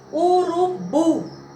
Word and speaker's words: urubu: tônica sílaba mais forte independente se será acentuada ou não urubu então tivemos aqui a palavra urubu o bumbum não está acentuado mas é uma sílaba tônica então quando a última